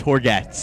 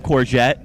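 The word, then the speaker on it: Hourguettes: poor gets it's uh got a little french origin to it horgets yes horgatz how do you spell it h-o-u-r-g-u-e-t-t-e-s wow so it's a mouthful it's like baguette a little like baguette okay i've been called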